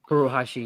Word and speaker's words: Furuhashi: Is that how you pronounce his name? Furuhashi, yes.